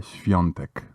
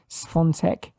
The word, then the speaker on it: Świątek: A great beginning of hopefully a new star in tennis, Iga Świątek.